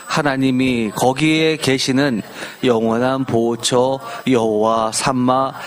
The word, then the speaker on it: 여호와 삼마: 개혁 계정에서 여호와삼마라고 했고 표준세 보은 여호와 샤마라고 했는데 히브리어 글자를 보면 중첩점 이중점이라고 하는 가운데 점이 하나 찍혀져 있습니다. 그래서 두 번 발음했기 때문 여호와 삼마라고 발음하는게 맞습니다.